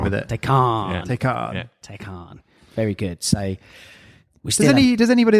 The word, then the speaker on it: Taycan: How to pronounce it. Taycan. Yeah. Taycan.